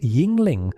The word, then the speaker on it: Yuengling: Yuengling, pronounced Yuengling, founded in Pottsville, Pennsylvania in 1829, it is